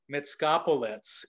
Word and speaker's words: Mitskopoulos: We were joking off camera that I was going to call her M, the mysterious M, but Mitskopoulos is last name.